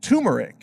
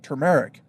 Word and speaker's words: turmeric: mispronouncing it they say tumeric but that's not correct actually there's a there's an R in there tu r em ER I see turmeric anyway turmeric is I